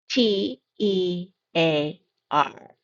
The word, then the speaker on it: tear: T E A R. The first pronunciation for this one is tear.